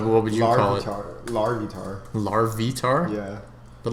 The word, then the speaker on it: Larvitar: be on our larvitar larvitar yeah but like it's like larva entirely I don't know man sounds like lard lard lard larvitar because you say like